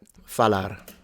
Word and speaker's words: falar: for our purposes, we're going to treat it almost as a silent letter.